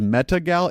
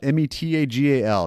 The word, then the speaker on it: Metagal: This is Metagal, Metagal, not like I met. Well, it's spelled like I met a gal, but Metagal as one word.